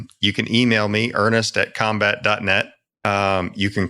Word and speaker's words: Combat: people that are listening it's combat with a c it's not a fancy crazy no you know everything in our industry is like it's it's p RT but it's pronounced combat no it's it's with